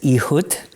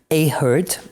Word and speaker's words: Ehud: His name is Ehud, or probably Ehud would be more of a correct pronunciation.